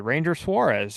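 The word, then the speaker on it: Ranger Suárez: We do know where they're going with their one of their pitchers they just added, Ranger Suarez, who apparently has a preferred pronunciation on his first name as Ranger Suarez.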